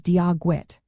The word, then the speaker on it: Dia Dhuit: The first word Dia is pronounced like the English word di and then so dia. The second word Dhuit is a bit trickier. The DH sound is often like a soft G in English, so think of the G in good. Then you have the WIT sound, like the English word wit.